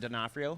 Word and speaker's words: D'Onofrio: How can I pronounce D. Orfano? Vincent D'Onofrio.